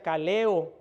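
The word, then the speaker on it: καλέω: Y siempre que Pablo habla en sus escritos del llamado de Dios, utiliza una palabra griega que se pronuncia kaleo, que quiere decir llamar,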